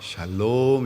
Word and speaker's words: 샬롬: 그래서 인사할 때도 샬롬 그러지 마시고 그리고 샬롬이라는 말은 뒤에다가 강세를 좀 쳐야 돼요. 샬롬 이렇게 하는 것이 원래에 발음에 맞습니다.